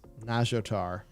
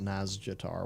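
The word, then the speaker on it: Nazjatar: as jader as jader it's nagiotar that's how you pronounce that it's not naz jatar what are you doing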